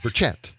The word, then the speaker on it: Burchett: And uh Burchett Burchett No, Burchett. That's it. The emphasis is not it's not just one. It's just one syllable.